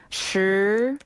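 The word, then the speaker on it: 十: 10은 시, 시, 시. 시. 네, 그렇죠. 부드럽게 올라가면 됩니다. 시을이 약간 생소한 발음입니다.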